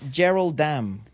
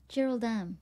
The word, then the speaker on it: JRLDM: Pronounced Geraldam. Geraldam.